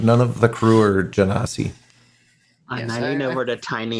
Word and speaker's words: Genasi: By the way, do you know if there's any female Genasi? I can never say it right. Genasi. Just think Genesis. Genasi. I know. I need to. But I think because I've said Gensai for so long that like, in my head it stays there.